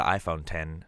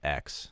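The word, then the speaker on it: iPhone X: be cool and trendy it means 10 not X also it's the iPhone 10 and 10 s not X and if you say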